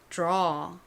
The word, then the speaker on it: draw: 참고로 D랑 R이 붙는 경우에는요. 이때 이 D는 디귿 발음보다는 디귿과 지읒의 사이에 발음이 납니다. 그래서 그냥 들어 이렇게 발음이 나지 않고요. 약간 draw, draw 이렇게 살짝 지읒의 느낌이 들어간 발음이 나요.